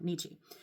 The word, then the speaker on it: Nietzsche: You can't talk about this without talking about Nietzsche. Nietzsche, Nietzsche, I think I said it wrong the first time. Nietzsche.